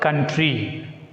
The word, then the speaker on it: country: And take the next word, country. As it is a noun, we should put stress on primary syllable.